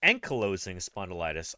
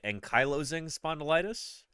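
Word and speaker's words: ankylosing spondylitis: data here is saying enyoing spondilitis I would say enyoing spondilitis cuz I say ankylosaur but you know what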